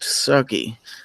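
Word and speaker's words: SCCY: Vandalistica says it's pronounced sucky.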